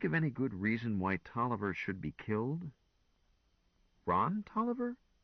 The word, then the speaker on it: Taliaferro: Tolliver. Hey, it says here, see also Taliaferro. That's the original spelling, said Gwen. But it's pronounced Tolliver just the same.